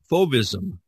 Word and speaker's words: fauvism: I think it's pronounced fauvism. Did I say that right, Diane? That's how most people pronounce it.